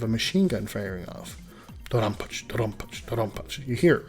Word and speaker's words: DoDonPachi: Real quick, let's look at that I at the end of Dodonpachi. It's silent in all Japanese pronunciation, but I've heard English speakers say Dodonpachi and Dodonpachi. It's kind of like karaoke and karaoke.